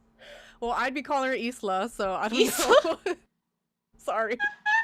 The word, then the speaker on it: Isla: Hoffman, who's played by Isla Fisher. Is it Isla or is it Isla? Well, it's Spanish. It's Isla.